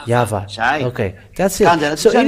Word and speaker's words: Yahvah: So it is up to you to think when the Hebrew, when it is read in the Hebrew, the yod, hey, vav, hey, is pronounced as Yahvah.